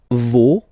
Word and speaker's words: vos: Okay, and then for the plural, no, vos, and then leur. Okay, so remember, even if you've got this final s, you don't pronounce it, as it was the